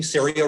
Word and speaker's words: Ceria: i'm from sewing company syria rhymes with area and uh we're here